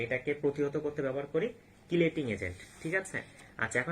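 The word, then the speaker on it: chelating: আর ধাতব আয়নের এটাকে নষ্ট করার জন্য আমরা ব্যবহার করব হচ্ছে কিলেটিং এজেন্ট, ঠিক আছে? কিলেটিং এজেন্ট, বা অনেক সময় এটাকে উচ্চারণ করা হয় চিলেটিং এজেন্ট, কেমন?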